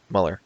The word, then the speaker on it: Mueller: don't know it's it's that's Muller Mueller okay Mueller in second place plus 10